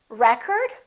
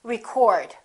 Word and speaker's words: record: get the second syllable if it's a noun we get the first syllable how about this one